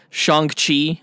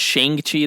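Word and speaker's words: Shang-Chi: out on may 7th shang chi i've been pronouncing it sheng chi this whole time like an idiot and it's shangchi yeah that's coming out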